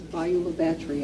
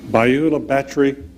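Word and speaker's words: Bayou La Batre: Because I was looking at that and I said, I'm going to mispronounce this, so I thought I would ask you. It's Beulah Battery, Alabama. Beulah Battery?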